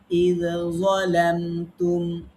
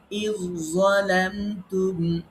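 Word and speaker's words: إذ ظلمتم: যেমন এরপরে উদাহরণ দেখেন, ইয যালামতুম, একটা জাল একটা জোয়া, দুইটার মধ্যে পার্থক্য আছে সিফাতের, মাখরাজ যদিও একই। এখন আমরা একজনকে অর্থাৎ প্রথম জনকে পড়বো না, আমরা জালকে বাদ দিব, জোয়াকে আমরা পড়বো, জোয়াকে রিপিট করবো, ডবল করবো, তাসদিদ দিয়ে পড়বো। আমরা পড়বো ইয যালামতুম, এরপরে কদ তাবায়্যানা রুশদা।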